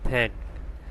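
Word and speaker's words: thank: এরপর টিএইচ এন কে থ্যাঙ্ক। এখানেও টিএইচ এর উচ্চারণ হবে থয়ের মতো।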